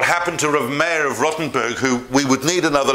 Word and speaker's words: Rottenburg: the German town/city of Rotterdam. Not Rotterdam, Rottenburg. Rotterdam's in Holland.